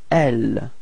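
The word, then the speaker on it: elles: And then feminine form, L. Final S is not pronounced.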